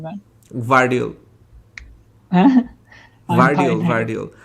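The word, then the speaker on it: Gvardiol: can't pronounce his name, Gravidol, right, something like that. Vardiol. Huh? Vardiol. The G is silent আর কি, Vardiol.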